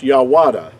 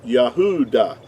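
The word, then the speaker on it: יהודה: y it would not it would not be pronounced yahada it would have to be pronounced yah yahuda yahuda the only difference between yahuda which is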